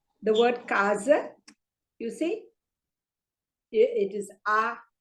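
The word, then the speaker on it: casa: you say the word Kaza you see it is ah the first time for the first syllable so you you stress on the first syllable so it is because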